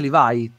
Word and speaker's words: Levi: questa cosa Però è Io l'ho sempre pronunciato leev perché comunque come come lo pronunciano nell'anime quindi lo pronunci così